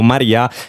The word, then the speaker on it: Marea: Il nome di Maria è molto bello perché noi in italiano lo pronunciamo Maria, però è scritto come marea, appunto la marea del mare.